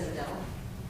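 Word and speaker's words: O'Dell: with a C, and my last name is Odell. Can you spell that for me, please?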